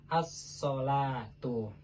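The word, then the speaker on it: الصلوة: Nah, di dalam mushaf Usmani, Rosam Usmani, tulisan as-sholatu itu setelah lam itu ada huruf wawunya. Nah, yang kalau mau kita ikuti secara pelafalan, maka setelah lam itu harusnya ditulis alif karena as-sholatu. Tetapi di dalam kaidah Rosam Usmani, alifnya itu diganti dengan huruf wawu, tetapi dibacanya tetap sama, as-sholatu.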